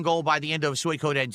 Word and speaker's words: Suikoden: Maybe we could hit a second goal by the end of Suikoden 2. I don't know about that. I keep saying Suikoden. It's Suikoden. It's Suikoden. That's how you pronounce it.